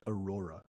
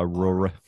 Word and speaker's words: Aurora: of the park no her name is pronounced Aurora not Aurora but um yeah I